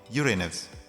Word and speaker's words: Uranus: community eventually settled on the name Uranus, with the stress on the first syllable.